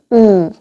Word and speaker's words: 우: 우. 네. 우는 영어의 우 사운드와 비슷한데요. pull, cool, tool, look, book, cook 할 때 그 우 사운드예요.